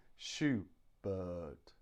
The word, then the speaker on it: Schubert: Schubert Schubert Schubert but but the stress is on the but Schubert Schubert so we stress the second syllable thank you very much